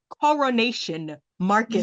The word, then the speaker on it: Coronation Market: Oh, the It wasn't until carnation. I went and I saw the sign. I said, that's not carnation, it's coronation market.